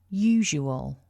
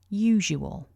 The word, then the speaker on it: usual: is to remember that although we write the letter S, it's actually pronounced as a voiced j. So remember to get that j in usual.